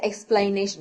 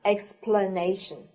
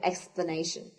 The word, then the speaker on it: explanation: form you don't say explanation no no that's wrong it should be pronounced explanation okay explanation because it doesn't have the i letter in here we also have another